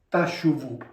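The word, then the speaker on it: תשובו: Tshvu, mettiamo pure anche i suoni vocalici, così come è stata scritta, e si legge Tashuvu.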